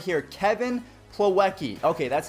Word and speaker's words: Plawecki: I pulled up his name right here Kevin plawecki okay that's how you say his name so